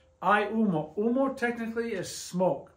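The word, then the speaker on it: humo: get to that I UMO and I remember H is silent h is silent I UMO UMO technically is smoke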